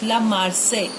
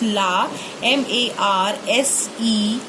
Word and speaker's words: La Marseillaise: La Marseillaise. I have written in Hindi as well for the pronunciation thing, so don't get confused. La Marseillaise.